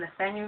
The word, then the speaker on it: Nathaniel: His cousin Marie sips her cup of tea, and her African husband Nathaniel, whose complexion is as dark as the ace of clubs and whose name rhymes with Daniel, thinks the little one is ace.